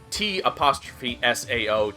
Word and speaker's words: Cao Cao: So, like, Cao Cao's name is T''SAO, T''SAO, not CAO.